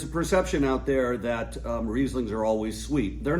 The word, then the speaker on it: Riesling: When an I follows an E, it's a long I. When an E follows an I, it's a long E. So Riesling is spelled R-I-E, right? S-L-I-N-G. So it's Riesling.